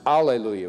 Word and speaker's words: alleluia: And in Latin, hallelujah is pronounced alleluia with no H sound.